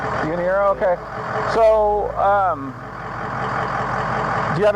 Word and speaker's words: Yanira: Yanira. Yanira, okay.